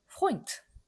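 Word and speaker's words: Freund: 그 다음에 요거는 오이라고 말씀드렸죠. 오이. 애우가 아니고 오이다. 그래서 어떻게 읽으면 되냐면 포인트.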